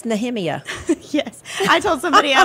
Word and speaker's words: Nehemiah: pronounce nothing right anyway we say Nehemiah and it's nemia yes I told somebody